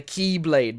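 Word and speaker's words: χ-blade: one is called the keyblade but it's like not key like it's like key like greek letter key yeah it's literally spelled like x and then dash blade it's the key blade and do you want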